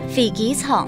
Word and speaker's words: 飛機場: 飛機場。